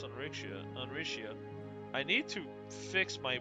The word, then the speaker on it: Rixia: Uh, I I think the main reason why I kept pronouncing it Rixia is because I did realize it was Chinese, but now I'm just like I'm It was obviously Chinese.